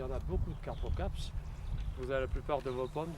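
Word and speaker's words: carpocapse: Carpocaps. C-A-R-P-O, caps. Carpocaps. Comme ça se prononce.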